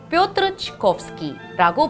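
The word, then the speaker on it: Пётр Чайковский: 러시아어로는 뾰트르 치코프스키라고 발음합니다.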